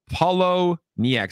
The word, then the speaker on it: Poloniex: Poloniex. How do you guys pronounce it?